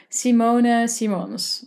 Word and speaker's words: Simone Simons: me first off um the Dutch way to pronounce my name would be would be Simona Simons but I've been called